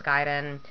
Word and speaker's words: Gaiden: at ninen that's why yes I know it's giden I probably know more Japanese than you do